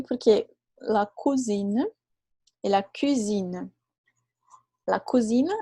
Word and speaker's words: cuisine: E la cuisine, lembra o aquele bem fechadinho? La cuisine, la purée. Então, a cozinha. Tá bom? Então, cuisine e cousine.